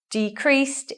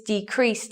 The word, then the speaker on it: decrease: to show you that so in this sentence decrease is in the noun form so looking at our rule where is the stress here on the first syllable we show you the stress by the circle and the unstressed by the line and what about this one decreased is in the verb position so we swap we stress the second syllable now I'll read them